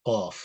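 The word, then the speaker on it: قاف: So this is qa, qadimun, qaf. So qaf is a deep sound.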